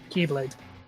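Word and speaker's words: χ-blade: Keyblade. Yeah. Not an X, whatever. it's Key. Hey, listen, they're gonna spell it an X. I'm going to say it correctly.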